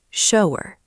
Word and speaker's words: shower: Look at the word shower. Don't say shower. Say it smoothly as one seamless flow.